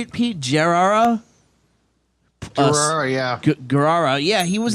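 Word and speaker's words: Gerrera: Gerrara.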